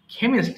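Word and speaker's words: chemist: নিয়ে তাদের কিন্তু আমরা বলি কেমিস্ট বলি হ্যাঁ কেমিস্ট মানে যারা বিভিন্ন ধরনের অ্যাসিড কিংবা এসব বিষয়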